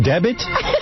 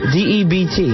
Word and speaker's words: debt: A special debit? Debit? Spell the word. D-E-B-T. All right, now spell it out. Sound it out. Debit. What is that word, D-E-B-T? Debt.